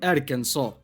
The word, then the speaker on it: Arkansas: Kansas is pronounced Kansas, but this is pronounced Arkansas.